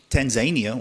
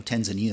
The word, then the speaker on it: Tanzania: Tanzania or Tanzania I think is the correct pronunciation is a country that's very focused on the socialist model.